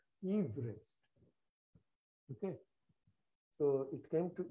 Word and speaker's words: Everest: I am pronouncing it correctly. His name is not Everest, Everest.